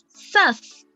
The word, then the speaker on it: sus: En este caso, nuestra nueva palabra es sus. Sus. Ya, y se escribe S-U-S. Sus. Como sus, pero se pronuncia sus.